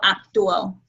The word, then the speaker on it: actúo: Actuar is the verb, so it's pronounced like this. Yo actúo.